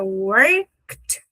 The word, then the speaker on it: worked: Repara que é worked. É uma voltinha e um tapinha.